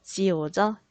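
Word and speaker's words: 九: 자, 구는 중국어로 지오죠. 지오. 자, 지오는 과연 어떤 단어와 발음이 비슷해서 좋아할까요?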